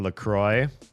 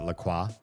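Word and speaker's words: LaCroix: That would be like saying Lacroy. If you drink Lacroy and you pronounce it Laqua, because it it's spelled like the French word Laqua.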